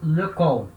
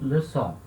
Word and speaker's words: leçon: Sem a cedilha, eu leio le con, certo? Com a cedilha, eu leio le son.